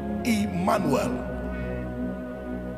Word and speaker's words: Emmanuel: name shall be called Emmanuel. Not E as in E, because E also is not in Hebrew word. E is pronounced as I.